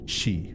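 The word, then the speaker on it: 四: can be pronounced as she which is the Japanese word for death which is why it's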